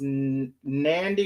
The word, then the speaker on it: Nandy: name is coach and I think they say it's pronounced nandy like candy so the mom allegedly